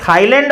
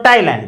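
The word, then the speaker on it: Thailand: अब ये थाईलैंड और थॉमस नहीं है, ये टॉमस और टाइलैंड है। इसका हमने ट्रांसक्रिप्शन किया है ओ टॉमस, टॉमस। इसी प्रकार से ये देखिए टाइलैंड, नॉट थाईलैंड, टाइलैंड।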